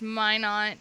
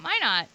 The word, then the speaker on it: Minot: But yeah, I think this is how it's pronounced. It's Minot, North Dakota. Ooh. Unlucky call sign. Why not Minot? And it seems like a rhetorical question, but freezing is the reason.